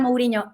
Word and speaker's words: Mouriño: sociales soy mouriño con nh porque no me permite poner enñes y quiero que la gente sepa que se pronuncia con ella pero bueno es una cosa personal mouriño con nh como el entrenador si sois futboleros tanto